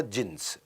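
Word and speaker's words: Djinns: उसमें बेसमेंट में क्लब होता था, जिन्स, डी जिन्स लिखता था, डी साइलेंट होता था, जिन्स।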